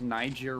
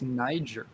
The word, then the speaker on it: Niger: It's like It's Niger. Yeah. Yeah, it's like a. it is not the N-word. What is that? Is that a soft G? I think G is a hard G.